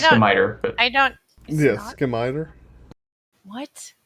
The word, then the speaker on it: scimitar: It's pronounced skimiter.